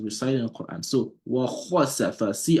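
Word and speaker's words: وخسف: and that's a challenge, a lot of people could not get kha pronounced, they will say wa hasafa. Kha is a letter that's pronounced heavily. It's not ha, it's not wa hasafa. It will be wa khasafa.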